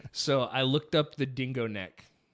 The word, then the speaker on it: Dingonek: So I looked up the dingo neck. It's spelled DINGONEK.